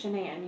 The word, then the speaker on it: Shanann: It's Shenan. You pronounce it like Shenanigans.